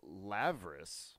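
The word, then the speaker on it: labrys: It's pronounced Lavris, by the way. It's a V It's a sound. V? It's a V sound.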